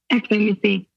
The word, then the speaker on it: xomisse: in my head is it exom Miss or exom Missy Missy okay so tell us a little bit